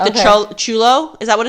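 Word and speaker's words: chullo: said chulo i was like it is it's chulo it's spelled differently that was c-h-u-l-l-o oh my god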